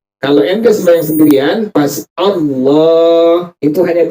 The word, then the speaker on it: Allah: Bukan O, tapi apa? Allah. Kalau ada yang iseng nanya, kok dibacanya Allah bukan Allah? Kenapa demikian? Karena alif itu pada huruful tahaji, ejaan pada huruful hijaiyah adalah alif fathah A. Makanya kita wajib membaca dengan kalimat tadi apa?